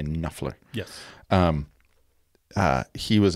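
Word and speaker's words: Knopfler: he was very uh Mark knofler uh silent P silent k just so you know you say nler Yes um uh he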